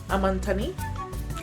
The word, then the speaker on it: Amantaní: woke up here in amanthani I'm Anthony that's the name of the island in the middle of the Lake City that's how you pronounce it you're not supposed to pronounce it the other way that's that's the wrong way yeah we slept well